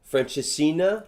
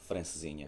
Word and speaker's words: Francesinha: That's where I had my first Francesina. How do you say it? Francesinha.